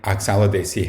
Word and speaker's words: Oxalidaceae: So think Oxalidaceae has 5 syllables, and everything to do with the flowers is a multiple of 5.